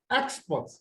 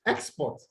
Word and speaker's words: export: Know that when you have a disyllabic word that is a noun, it is stressed on the first syllable. And when you have it as what? A verb, it is stressed on the second syllable.